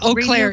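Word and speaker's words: Eau Claire: I think you can help me is it oair yeah oair e EA CL a r yeah oair okay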